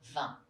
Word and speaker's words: vingt: The third one is the sound un, quite nasal, as in cinq and vingt.